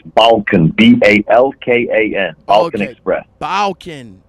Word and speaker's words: Balkan: How you pronounce the name of the company? It's Balkan, B-A-L-K-A-N, Balkan okay.